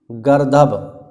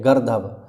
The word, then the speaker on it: गर्दभ: खर गर्दभ इसकी पर इसका जो उच्चारण है यही है गर्दभ अगर आप इसे गर्द पढ़ोगे तो गर्द लिखोगे और गध पढ़ोगे ठीक तो फिर लिखोगे भी गध तो गलत हो जाएगा वैशाख नंदन राव धूसर